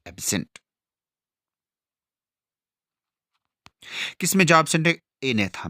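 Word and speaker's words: Agnatha: है एक है एथा यहां पे जो है जी साइलेंट रहता है एथा और दूसरा है नथो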